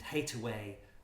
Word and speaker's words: Hathaway: life saying not you and hate away was an alternative pronunciation of Hathaway so you admit that